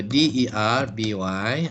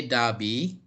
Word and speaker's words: Derby: coming on yeah okay the British we say Darby hey as me no saladin Darby no sorry copy I remember so the big TV say Darby the matter there be yes so here you have a difference so the brick TV say Darby the American we say Derby there are differences also